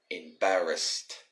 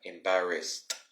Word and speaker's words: embarrassed: in the past tense we would say embarrassed embarrassed as you've noticed that the e and d